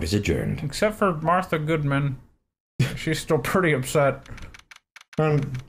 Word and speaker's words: Goodman: It's pronounced Goodman?